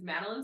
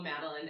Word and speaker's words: Madelein: think you get it you get it madin like a little cookie like a little cookie